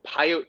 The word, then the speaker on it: Pyote: the county library of Pyote, Texas. And Pyote, man, spelled like peyote, right?